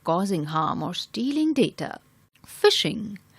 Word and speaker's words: phishing: negative intention of causing harm or stealing data phishing phishing is pronounced like Fi SH ing phishing refers to